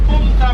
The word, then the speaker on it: Punta: If you say Punta, make sure you always pronounce it with the N.